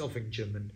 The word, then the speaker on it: Ovingham: and Bellingham and things like that it's it's oving Jim and Belling Jim and stuff like that I